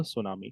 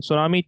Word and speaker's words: tsunami: potential to generate a tsunami in tsunami tea is silent okay now te is silent okay also like you